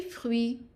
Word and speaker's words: fruits: So for example, we have ces fruits sont bons. Ces fruits sont bons. Notice that fruit, the UI is pronounced as a oui. The TS at the end are not pronounced.